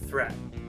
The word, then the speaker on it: threat: So the first thing I want to talk about is the T sound at the end of the words last, adult, and threat. Now if you listen, there's not really a strong T sound there.